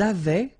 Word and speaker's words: avaient: Ils avaient, so remember, even if we've got this A-I-E-N-T, well, we don't pronounce it, or we don't pronounce this E-N-T, so we get avaient, okay, phonetically.